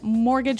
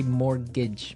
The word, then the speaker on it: mortgage: I mean, there's a this strange mortgage with a t. Yeah, it has a t in it, but you don't pronounce it. You say mortgage, mortgage.